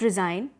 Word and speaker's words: resign: So over here, the pronunciation of SIGN would be like zine, and it has a pronunciation of Z over there.